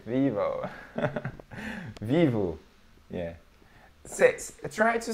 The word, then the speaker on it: Vivo: some well usually we the letter O for us in the end of a word we don't pronounce o we pronounce oh yeah believe it or